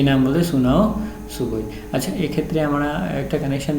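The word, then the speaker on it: Sunao Tsuboi: ওকে, সুনাও সুবুই, তোমরা জানো সুনামির স্পেলিংটা ঠিক প্রায় TNS দিয়ে শুরু হয়, কিন্তু ওর টিটা সাইলেন্ট থাকে, এখানে কিন্তু টিটা silent. সুনাও সুবুই who survived the world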